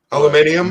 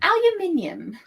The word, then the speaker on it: aluminium: I can't get over how we pronounce that differently, you know. Aluminium? No. Yeah. Oh. Aluminum. Aluminium.